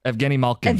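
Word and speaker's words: Evgeni Malkin: Evgeny Malkin.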